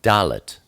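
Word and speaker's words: dalet: then we look at doot doot is the number four and it's pronounced d like door it's a picture of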